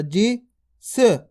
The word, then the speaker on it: जिस: छोटी ई की मात्रा जी स सा को उच्चारण किस प्रकार से करेंगे स पूरा नहीं करेंगे सा अगर पूरा करोगे तो गलत हो जाएगा किस प्रकार से पढ़ेंगे